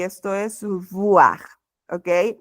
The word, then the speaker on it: voir: La OI suena como UA. Voir, voir. Y bueno, en este caso también tenemos la mezcla de la OI, por lo tanto esto se va a pronunciar como UA, pero tenemos una B, no una V, entonces esto es boire.